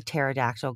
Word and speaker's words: pterodactyl: don't have trivia okay why can't you hear a pterodactyl going to the bathroom because the p is silent oh oh okay